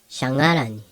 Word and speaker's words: shangaran: An example of a word using the NH would be shangaran. Shangaran. Shangaran is the verb to walk. Shangaran. So this letter is not an N. It's not pronounced shanaran. It's pronounced shangaran, like an NG.